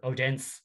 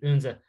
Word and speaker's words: Odense: They beat a Danish side called Unze, or Odense, as some people, but I've been reliably told that the Danish pronounce it Unze.